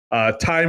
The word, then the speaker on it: thyme: The movie, like if you read the movie, time is spelled TH, like the herb, yeah, like time.